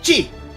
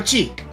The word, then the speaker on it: chi: This whole bit annoys me so much because Ki with a K and Chi are pronounced the exact same way.